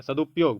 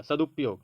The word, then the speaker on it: सदुपयोग: देखिए सदुपयोग बोलके देखिए। जब आप सदु बोलिएगा वहीं पर ह्रस्वकार खत्म हो गया उसके बाद प शुरू होगा सदुपयोग बोल के देखिए आप